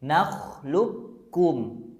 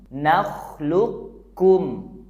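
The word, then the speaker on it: نخلقكم: cara bacanya ada dua pertama Q sukunnya enggak dibaca langsung tasjidkan huruf kafnya nakhlukum lukum dan cara yang kedua kita baca dulu qf sukunnya tanpa Qalqalah atau dipantulkan Luk l baru Setelah itu kita baca kafnya kum kum luukum nakhlukum Coba sekarang kita dengar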